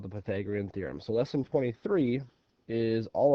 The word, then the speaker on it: Pythagorean theorem: you ever heard of the Pythagorean theorem before Pythagorean theorem that's how it's pronounced I bet you if he asked your